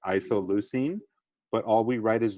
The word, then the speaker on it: isoleucine: know it's a weird one sorry guys it's pronounced isoleucine but all we write is the first three